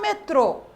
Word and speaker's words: metrô: temos aqui agora circunflexo vocês perceberam que quando eu falo a sílaba do acento circunflexo fica um som mais fechado Então veja aqui ó Cipó o o foi aberto ó e no metrô que o acento circunflexo fica o metrô certo e o acento